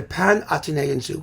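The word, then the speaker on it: Panathenäenzug: Domestica and the Panathenaeenzug, the thing that nobody can pronounce, but as I say in the book, it's actually easier to pronounce than you think. It really is. It's the Panathenaeenzug, which means all Athens festival procession, essentially.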